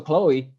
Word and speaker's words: CXLOE: e but um yeah my artist name is CX L OE and it's pronounced pronounced the same pronounced the same yes